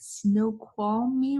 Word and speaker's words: Snoqualmie: We're watching a 4K virtual forest walk along Middle Fork Trail, and I might pronounce this wrong, at Snoqualmie region.